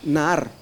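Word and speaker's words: נער: La palabra niño es la palabra Nahar y se escribe N-A-A-R y quiere decir un jovencito entre 17 y 18 años.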